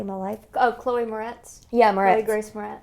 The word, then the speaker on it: Moretz: last name to say my life Oh Chloe Moretz yeah moretti grace for us yeah um she